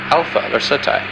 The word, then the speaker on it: Alpha Lacertae: Its brightest star is pronounced Alpha Lacertae.